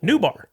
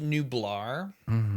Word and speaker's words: Nublar: Oh, Nubar. Yep. Oh, let's go. It's pronounced Nublar.